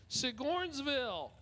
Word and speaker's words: Sigornsville: Dickie Kiersey out of Sigornsville. It's like Sigourney Weaver, but Sigornsville. That's the only way I can remember how to pronounce that city.